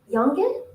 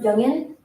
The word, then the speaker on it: Yungan: Yankin, Yanjin, they would ask. And I would try to pronounce Yungan, but my limited proficiency in English combined with my Japanese accent had made the situation more frustrating.